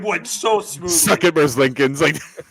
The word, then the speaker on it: Merzlikins: I looked at the Google pronunciation. I might be Merzlikins.